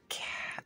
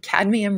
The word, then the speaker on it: cadmium: then I did the cat uh I keep saying it wrong cadmium red light so this is you